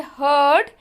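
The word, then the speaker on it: heard: So the word herd, H-E-A-R-D, and you see dread, D-R-E-A-D. Okay. So now the pronunciation, beware of herd, a dreadful word that looks like beard and sounds like bird.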